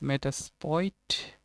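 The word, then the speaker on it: Metasploit: are used here is meta spoit i think l is silent here and denial of service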